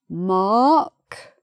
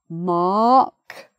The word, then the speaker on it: mark: And this one, mark, just R, M, R, and then K, mark, no R.